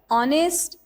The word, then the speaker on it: honest: Another example is ghost, honest, or. Here is the silent letter is letter H. H is a silent letter because we do not pronounce it.